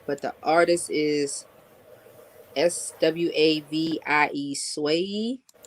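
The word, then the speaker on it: Swavie: the artist is s-w-a-v-i-e swayee i don't wanna pronounce it wrong so it's not sway lee this way you let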